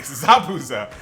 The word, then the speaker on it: Zabuza: just like the anime and I said his name wrong isn't it uh Zab Zabuza sorry Zabuza um so this is the battle the bridge